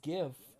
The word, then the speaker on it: GIF: it it's uh it's gif not jeff i don't want to